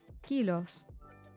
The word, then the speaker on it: kilos: Kilos is the same as in English except the pronunciation of the O changes to O kilos.